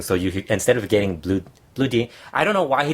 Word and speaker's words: Blue Demon: But it's not saying Blue Demon. It's Blue Demon. Yeah, I'm just pronouncing it wrong.